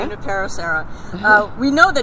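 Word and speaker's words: Junípero Serra: And speaking of great padres, I know that anybody who's lived in California knows the name Junipero Serra. Did I pronounce it right? Junipero Serra. Junipero Serra.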